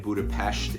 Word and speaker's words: Budapest: by the way yes I've said Budapest and Budapest in this video it is pronounced Budapest correctly so I will try and do better with that at any rate the